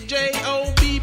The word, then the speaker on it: Job: My name is J-O-B, pronounce it Job if you please.